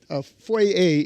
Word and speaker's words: foyer: Foye is the English pronunciation of foyer.